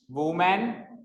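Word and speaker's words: women: क्या होता है उसको प्रोनाउंस कैसे करते हैं मेमन नट व ये वमन होता है वो विमन होता है उ की जगह ई की मात्रा आ जाती है विमन okay let the time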